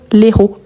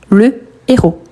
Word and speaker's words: héros: Héros, également, on ne peut pas dire l'héros. Donc, on dit le héros. D'accord? Pourquoi? Parce qu'il s'agit d'un H aspiré.